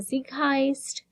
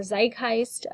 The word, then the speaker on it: Zeitgeist: Then we have environmental factors, so our society, the Zeitgeist, or Zeitgeist, depending on how you pronounce it, the time frame, what is going